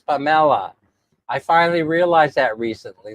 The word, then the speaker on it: Pamela: For example, for example, I finally realized that uh Pamela is not pronounced Pamela here. It's Pamela.